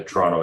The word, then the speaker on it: Toronto: um honorary people from Toronto I know it's two syllables I have relatives up